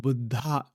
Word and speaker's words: Buddha: you know we say in English we say Buddha and all that those are our ways of pronouncing that but the word is actually pronounced Buddha and all that word means is that the